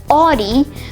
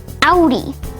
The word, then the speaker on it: Audi: Well, in German, if you see the letters AU almost anywhere, it will probably be pronounced Au. And that's the case here, where it's not pronounced Audi, but rather Audi.